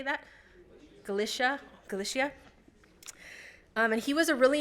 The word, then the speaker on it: Galicia: Galicia.